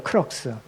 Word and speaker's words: crux: 크럭스. 크록스가 아니에요. 신발이 아니라 크럭스인데 Crux입니다.